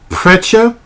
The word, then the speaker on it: Perchta: a witch called Frey Frey Preta and I believe is is how they pronounce it so pretty much what